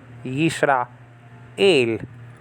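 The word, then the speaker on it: יִשְׂרָאֵל: Yisra, el. That is to be pronounced together.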